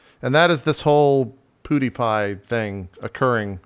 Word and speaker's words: PewDiePie: my own yeah it's PewDiePie because it's like cutipie yeah it's PewDiePie oh I guess it's fine